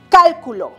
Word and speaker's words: cálculo: Que si esta palabra lleva tilde, que esta no, si lo puse en la sílaba correspondiente, porque no es lo mismo pronunciar calculó, calculo, cálculo. Este pequeño signo gráfico, esta rayita insignificante llamado tilde, hace una gran diferencia.